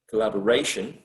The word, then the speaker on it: collaboration: we're going to see how the stress might shift from one syllable to the other like for example in in the word collaboration collaboration uh if you think about the root of the word is collaborate collaborate collaboration so there is a shift of the stress from one syllable to another one but sometimes that's not